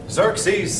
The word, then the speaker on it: Xerxes: own son named Xerxes he looks like it should be spelled with Z's instead of X's Xerxes set a bigger army